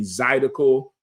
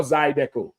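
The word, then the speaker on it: zydeco: They gonna have, you know, the line dancing, the Zidico. Zidico or Zidco. You said it right the first time I said Zidico.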